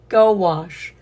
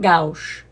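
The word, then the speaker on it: gouache: Pronounced Gowash. See, it looks like gou. Gowash. Go wash. Not gou.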